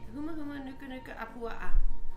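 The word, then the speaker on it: humuhumunukunukuāpuaʻa: Huma huma nuka nuka apua'a.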